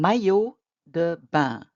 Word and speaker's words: maillot de bain: Un maillot de bain. Not pronouncing the endings on either of those.